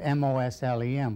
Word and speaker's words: Muslim: the point is that most dictionaries give MOS lem but when you spell it that way you don't say the s is an as you say it as a Z and Mars amends Ullom